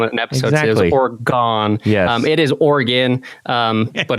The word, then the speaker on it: Oregon: one time on an episode oron it is Oran um but it's common common happens yeah they're